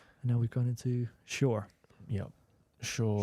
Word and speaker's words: Shure: And now we've gone into Shure. Yep. Shure. Shure? Is that how you pronounce it?